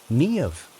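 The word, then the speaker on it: Niamh: Nev, she said, pronounced nev. A rare name, Irish.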